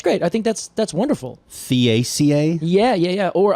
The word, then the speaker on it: Theaceae: Theaceae? Yeah. Or I usually would say Taca Oh. and pronounce it as a t instead of a the.